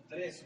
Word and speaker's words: Andrés: Entonces, mire, hermano, el siguiente que vamos a estudiar es el al apóstol Andrés, con acento en la E.